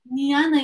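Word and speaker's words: jñāna: into what we call niana yoga as you can see it's called it's written like janana but in sanskrit you don't pronounce the j so it's yoga yoga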